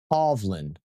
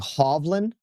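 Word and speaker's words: Hovland: Um, so I say the pronunciation is more like that where the A is a double, a double A is pronounced like a havland. Like havlin.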